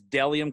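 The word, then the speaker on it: Bdelliom: it looks like it's it looks weird because it's spelled with a b but it's deliam clothing b-d-e-l-l-i-o-m you can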